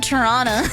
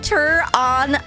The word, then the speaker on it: Toronto: But if you have a T in like the last half of the word, never pronounce it in Canadian.